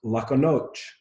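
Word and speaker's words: lahko noč: And this is pronounced lako noč.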